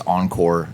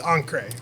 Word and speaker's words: Encre: He's like, it's Encre. He says like French for like the color black or something Yes.